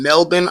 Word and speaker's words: Melbourne: The Waiters Club in Melbourne, Australia. Yes, that is apparently how you say it. If you ask any Australian, it's Melbourne, not Melbourne, even though that's how it's spelled.